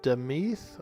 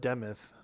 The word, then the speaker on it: Demith: welcome to the ycs this place is called deth or deth I'm not sure how it's pronounced I I like to pronounce it deth but some people call it demith so however you spell it or pronounce it yeah demith you can see the the spelling here d e m i t h demith i feel like it's de though I don't know why uh for those of